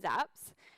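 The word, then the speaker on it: xApps: apps zaps stands for it's spelled x apps and it's pronounced zaps um the uh developers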